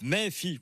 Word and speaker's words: Méfi: les collègues le groupe méfie il faut prononcer à la provençale mais si on général